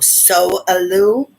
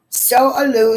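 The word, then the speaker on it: Sowelu: get some more advice s-o-w-e-l-u like just so so aloo so aloo stands for wholeness that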